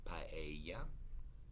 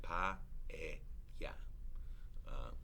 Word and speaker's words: paella: Same with paella, right? Pa-e-ya. Again, the a and the e form two syllables. and you have to divide the word that way.